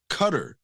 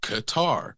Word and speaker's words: Qatar: a heart exactly exactly so it's not cutter it's not it's more like qar like guitar so either even even when you take out the consonant or The Vow it's not cutter it's Qatar like or yeah a deeped k or hardish G sound depending on the dialect and then deemphasizing the